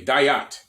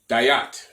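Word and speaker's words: דעת: diat which is all it's spelled a bunch of different ways just hear it phonetically dayat dayat dayat it's a hebrew word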